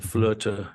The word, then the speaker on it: Flöte: Icelandic means Destiny and flirta in which is the German and other Germanic language pronunciation and spelling of flute the instrument I play so that's